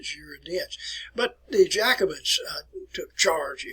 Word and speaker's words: Girondins: Assembly were called the Girondins, and that's the way you want to pronounce it, Girondins. It looks like it's Girondin, but Girondins.